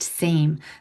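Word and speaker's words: Sejm: was called the same s ejm pronounced same.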